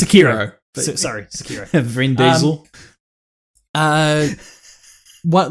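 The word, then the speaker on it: Sekiro: like it's called it's it's pronounced sakiro sorry security uh what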